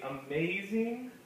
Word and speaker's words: amazing: So we'd say amazing is a three-syllable word. We can kind of look for it. Amaze, right? We say amaze. The emphasis gets put on maze part.